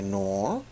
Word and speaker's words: Knorr: not currently sponsored by nor of which i believe is the pronunciation of the brand name as i believe the case to be silent however i'd like to